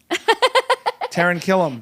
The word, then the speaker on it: Taran Killam: Taran Killam.